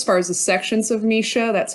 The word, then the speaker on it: MSHSAA: an overview as far as the sections of misha that's how i pronounce it uh section two and section three